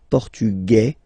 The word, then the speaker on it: portugais: Masculine, portugais. You don't pronounce the S, feminine form, portugaise, you pronounce this Z sound, okay?